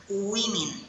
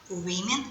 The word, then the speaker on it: women: зуби Woman жінка Зверніть будь ласка увагу як вимовляється слово жінка у множині Women Women жінки Man чоловік Man - чоловіки Маус мишка